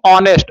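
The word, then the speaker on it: honest: बी ईमानदार ईमानदार को ऑनेस्ट एच ओ एन ई एस टी ऑनेस्ट एच जो साइलेंट रहता है ऑनेस्ट पढ़ते हैं इसको ठीक है तो आई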